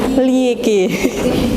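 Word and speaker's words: Liège: Apa bacanya? Liege.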